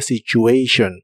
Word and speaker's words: situation: la frase about the situation que significa acerca de la situación Ponle mucha atención a Cómo se pronuncia la palabra situación en inglés es situation con una o muy suave about the situation about